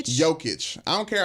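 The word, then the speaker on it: Jokić: don't care how good joking joking is how you say his name okay joke it I don't care how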